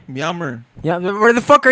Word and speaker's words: Myanmar: Yammer? Myanmar. Yeah, where the fuck are you from? You don't even know how to pronounce.